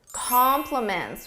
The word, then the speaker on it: complements: And the answer is complements with an E. These two words sound exactly the same in pronunciation.